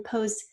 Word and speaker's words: pose: We've got the P, O, and then pose almost sounds like a Z. It is an S, and we're going to use the silent E for that O to say its long name.